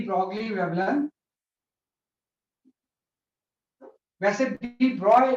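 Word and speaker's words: de Broglie: What is द डी ब्रॉगली wavelength, वैसे डी ब्रॉय pronunciation होता है इसका, है ना। डी ब्रॉगली हम ऐसा बोल देते है ना, वैसे डी ब्रॉय इसका एग्जैक्ट प्रोनाउंसिएशन। तो हम यहाँ बात करते हैं डी ब्रॉगली wavelength of charge particle.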